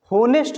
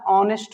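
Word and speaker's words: honest: बताया, तो यहाँ पे ये एच जो है क्या हो जा रहा है? साइलेंट। होनेस्ट नहीं बोलते हैं, जितने भी लोग होनेस्ट बोलते हैं वो गलत साउंड है। इसको हमेशा ऑनेस्ट बोलते हैं।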